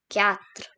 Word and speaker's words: quatre: And here we have 4, which is pronounced as quatre.